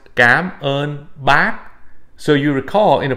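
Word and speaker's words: cảm ơn bác: use this okay and it's it would be pronounced gab on back so you recall in a previous video i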